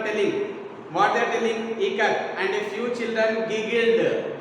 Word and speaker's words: Ikat: it is spelled it as ka, as in Kamala. Okay, as in Kamala, and T as T. So here first word I, as it in ka, I, ka. T as what here?